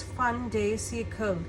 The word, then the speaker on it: fin de siècle: So it is pronounced, if in French I call it, it's fin de siècle, Kipper.